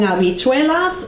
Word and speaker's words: habichuelas: Habichuelas. Yeah, if we wanted to speak habichuela, we would put a J there instead of an H.